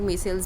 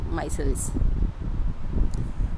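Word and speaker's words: micelles: माइसेलीज या इसको कुछ लोग मेसेल्स भी बोलते हैं, कुछ लोग माइसेल्स बोलते हैं, तो उसका करेक्ट प्रोनाउंसिएशन क्या है ये आप जो आपको बेटर लगे आप यूज़ कर सकते हो. I prefer माइसेल्स.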